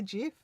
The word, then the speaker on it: GIF: I say GIF. GIF is wrong, okay? It's a GIF. Stanley says, me too, I'm a full on the GIF pronounced with a G, not a J camp.